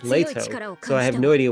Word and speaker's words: Leto: stuck out to me two of the characters mispronounced letto name one pronounce it correctly as leato so I have no